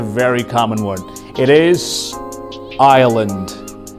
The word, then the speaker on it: Ireland: common one it is ireland ireland it's not island or island it is ireland the fifth one is